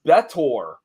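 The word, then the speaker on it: B'Etor: She would later go on to be, I believe it's pronounced Betor, on several different series of Star Trek.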